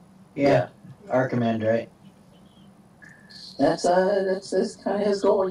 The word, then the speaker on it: archimandrite: Yeah, I'm not very good at pronouncing this. I'm going to type it. You guys tell me how to say it. Archimandrite? Yeah. Archimandrite.